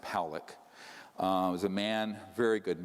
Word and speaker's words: Pollock: This man, William Pollock, his name is pronounced Powlick, was a man, very